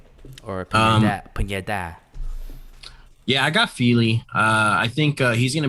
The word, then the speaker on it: Fili: Definitely Fili, but okay. Oh, you don't like touchy File? No, I said it's definitely pronounced Fili, but okay. What did I say? Filet.